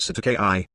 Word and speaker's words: Cestui Que: doe ordo jane one cessed tui k trust pronounced certain ki common term in new